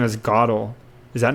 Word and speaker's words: Gödel: Okay, it's Gödel. So I went on Wikipedia and I clicked listen, and it said Gödel. Kurt Gödel. Gödel.